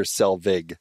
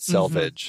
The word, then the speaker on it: Selvig: And just as a side note, I don't know if we're closing the loop on this, but Coulson does in fact say Dr. Selvig, not Selvage.